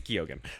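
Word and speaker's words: Keoghan: He hangs out with Barry Keegan all the time. It's Gogan.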